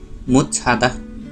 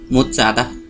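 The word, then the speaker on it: 못 자다: त्यसै गरेर अर्को शब्द हेरौँ, मुत छादा। यसमा मुत छादा लेखिएको छ र यसको उच्चारण भने मुत चादा भनेर गर्नुपर्छ। तल त वा द यो मिक्स गरेर उच्चारण गर्नुपर्ने हुन्छ।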